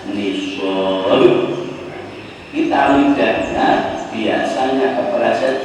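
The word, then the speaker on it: نصاب: syaratnya sudah sampai Nis Nun Shad alif ba dibacanya nisab kita lidar biasanya kepala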